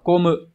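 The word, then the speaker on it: 混む: Các bạn có thể đọc là cô mự.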